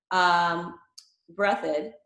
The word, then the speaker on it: Breathitt: town in southeastern Ohio, Breathitt. I think that's it, right? I always forget whether I'm going to be mispronouncing it or not. It's No, breath is right.